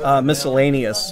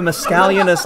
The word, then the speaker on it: miscellaneous: Dungeons & Dragons in seventh grade I I mispronounced miscellaneous all the time the scallion is yes yeah no yeah exactly I have a mask a leonis I don't know what do I do with